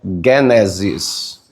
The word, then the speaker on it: Gênesis: Assim como Gênesis, a pronúncia certa é Gênesis.